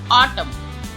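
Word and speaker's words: autumn: हमारा N silent होगा ऑटम N silent है यहां पर ऑटम कंडेम कंडेम हाईम हाई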